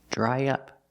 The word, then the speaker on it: dry up: talk about dry up pronunciation dry up to link the vowel I try to the short uh and up we need a sound in the middle yeah dry dry up dry up dry up means to